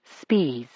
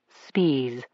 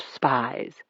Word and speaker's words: Spies: One of them was a teacher named Agugust Spees. That's how he pronounced it. Spes, not spies.